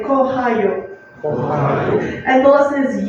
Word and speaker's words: кохаю: And let's say kohayu.